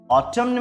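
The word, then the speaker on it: autumn: ऑटम्न में भी एन का यूज नहीं करते, ऑटम तक ही बोलते हैं, लेकिन अचुमनल बोलने पर एन का यूज होता है।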